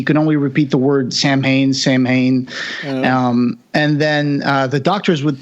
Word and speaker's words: Samhain: But then in this final version, the bad guy pronounces it Samhain. Yeah. I was going to say something about that. I think that might be an Irish pronunciation.